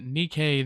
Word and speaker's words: NIKKE: I don't play Nike myself, but slowly falling. Nikkei? Oof. I butchered that then. It's, not Nike the foot brand, but Nikkei the game.